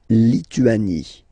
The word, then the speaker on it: Lituanie: La Lituanie. Remember in French, sorry, H doesn't exist, okay, so you don't pronounce it, and it's Lituanie, Lituanie, la Lituanie.